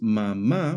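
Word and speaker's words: mamá: Since mama breaks that rule by stressing the last syllable instead, a is added on the last a to show this irregular stress.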